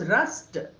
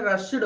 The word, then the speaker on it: rushed: Traffic కేయూజ్ as locals రస్ట్. RUSHED రస్ట్ ఎలా చదవాలండి? RUSHEDని పుష్ పుస్ట్, wash vast. ఎస్హెచ్తో ఎండ్ అవుతూ ఈడి వస్తే ఈడీని ఎలా పలకాలి? టాలా పలకాలి. అందుకని రష్డ్ అనకుండా రస్ట్. Locals rushed to the spot and took away the bottles.